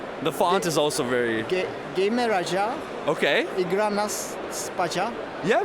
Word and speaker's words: Gejmeraja: Gejmeraja. Okay. Igra nas spaja. Yeah, very close. It's Gejmeraja. Igra nas spaja. Our J is sort of like the Y in English.